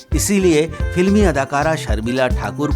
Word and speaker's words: ठाकुर: भी शर्मा जाते द अंग्रेजों के अशुद्ध उच्चारण में ही रविंद्र नाथ ठाकुर को टैगोर बना दिया बंगालियों में टैगोर कोई